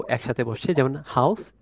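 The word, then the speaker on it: Haus: ও একসাথে বসছে, যেমন হাউস। এক্ষেত্রে আর ও একসাথে হলে এটার উচ্চারণটা হয় আও, এরকম টাইপ। যেমন হচ্ছে হা, আ, ও এস, হাউস।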